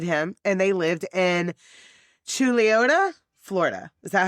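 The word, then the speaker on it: Chuluota: Uh but Chad adopted him and they lived in Chiliota, Florida. Is that how you say that? Chiliotaa. Yes, it is. I had to I have looked up the pronunciation of it because it it is spelled like chaluda like like Cholula.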